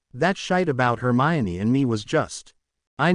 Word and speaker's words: Hermione: was a stupid article they even got her name wrong Herm e jeene Granger that shite about Hermione and me was just